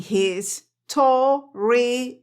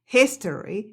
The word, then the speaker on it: history: este la canción dice you go down in his to I was like casi me ataque crisis existencial